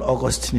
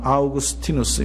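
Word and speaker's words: Augustine: 꼭 읽어봐야 될 내용입니다 어거스틴 영어로 발음은 어거스틴 있니다 그러나 이태리 발음으로는 아우구스티누스 우리가 히 이제 미국에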